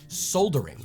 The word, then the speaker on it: solder: Now, if you just hear that word without seeing it, you're never going to imagine there's a hidden L in there. Where did that go? Surely the American pronunciation must lose a point here, right? Well, you'd be surprised. Over here in the UK, the word is pronounced soldering, and you cannot fault them for that. There is an L right there in the middle of the word.